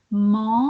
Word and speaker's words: manger: C'est tous les verbes en et. C'est toujours et.